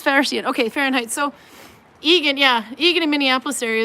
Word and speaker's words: Eagan: from eagan minnesota see i know how to pronounce that guess why i'm from minnesota 70 is fair yet okay fahrenheit so eagan yeah eagan in minneapolis area is about similar